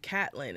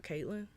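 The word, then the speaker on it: Catelyn: I stayed here oh she pronounced her name catlyn and not Caitlyn it is Lady and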